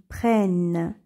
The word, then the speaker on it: prennent: donne l ils prennent lorsque le se trouve devant deux consonnes il se prononce et on dit ils prennent et pour les exemples